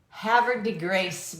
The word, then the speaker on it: Havre de Grace: If you're trying to pronounce where I live. Oh, Havre de Grace, Maryland.